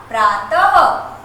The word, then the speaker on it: प्रातः: आपने लिखा प्रातः, इसका उच्चारण आपने अह, हंसते हैं तो वहां पर उच्चारण अह होता है।